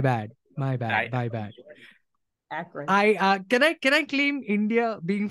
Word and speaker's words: Akron: No, in fact, to that end, it reminded me of a very interesting project called Sounds of Akron, or Sounds in Akron, which was basically a